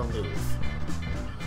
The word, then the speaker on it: Louvre: Yes, it is pronounced the Louvre.